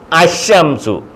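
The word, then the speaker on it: الشمس: എന്ന് പറയത്തില്ല ഉച്ചരിക്കത്തില്ല മൊഴിയത്തില്ല ലാലീലു എന്ന് പറയത്തില്ല ഷംസുൻ അശംസു അശംസു ബസീറുൻ ബ സ്വാദ് ബ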